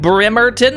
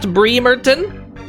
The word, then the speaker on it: Bremerton: got loads of money it's pronounced bremerton not breemerton is it bremerton i